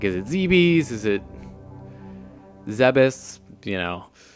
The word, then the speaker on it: Zebes: was like is it zebes is it zebus you know and apparently zebus is the official pronunciation so that's just kind